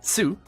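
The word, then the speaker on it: っ: a little bit further it's meant to be just a hard stop on the pronunciation of the previous character so instead of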